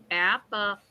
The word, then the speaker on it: apparatus: Apparatus. Okay. The 3rd syllable is the stressed syllable. Stressed. Oh. You stress ra.